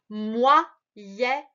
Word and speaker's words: moyenne: O, Y, ça fait wa. Moyenne. Encore une fois, tu as deux N ici, double lettre. Donc, le E va se prononcer est.